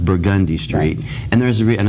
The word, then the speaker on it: Burgundy Street: for example in the French Quarter you have burgundy Street which is pronounced burgundy straight and there's a real